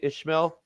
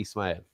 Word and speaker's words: Ismael: so long story short people like to call me Ishmael but there's no h in my actual name so therefore you call me or you call me Ismael you'd even spell it